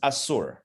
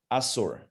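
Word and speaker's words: אסור: But more precisely in Hebrew, The word for forbidden is asur. Asur. In English, you might spell it A-S-U-R, asur.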